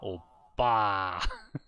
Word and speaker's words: 오빠: 오빠, 오빠, 오빠, 폭스바겐 That was more like a P. No, it's very clearly a tense P.